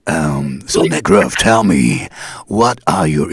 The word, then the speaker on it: Necröff: You have to say it really, Nekrov. Yeah. Got it. Nekrov. So we're gonna talk like this now, right? So Nekrov, tell me, what are your inspiration for the lyrics?